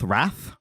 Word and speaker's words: wrath: Wrath. Wrath. Roth. Roth is angry sleep. Wrath and sloth. Wroth. I feel like wroth. Wrath is pronounced wroth in English.